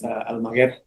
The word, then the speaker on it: Almaguer: State versus Almagar. Can I have parties announced? Orlando Castanon for defense. And are you Mr. Almagar? Yes, ma'am. Am I pronouncing your last name correctly? It's Almaguer.